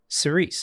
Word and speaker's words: Cirice: Now the song is called sice and before you get on me about the pronunciation which a lot of people are very particular about. I watched an interview where he himself said siceice and he's well aware that there's different pronunciations when you go back into like the language of it but he said it that way I'm saying it that way.